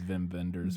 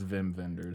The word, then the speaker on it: Wim Wenders: Wenders called perfect days I believe it's Vim vendors I could be wrong about that but I think it's Vim vendors well it's spelled with a W I know I know